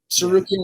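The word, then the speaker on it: Tsarukyan: I'm worried about freaking Armin sarukin with it with a with a silent T at the beginning with the teeth hey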